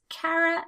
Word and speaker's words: Kara: On the other hand, I have another friend from Brooklyn, and her name is Kara as well, and she uses that pronunciation. Now, if you called that Kara, she would definitely correct you.